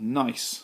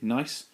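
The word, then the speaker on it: gneiss: is a rock called nice that's how i pronounce it silent g nice and that's further it's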